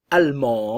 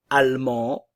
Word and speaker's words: allemand: on l'entend presque pas allemand allemande ok le D ne se prononce pas au féminin le D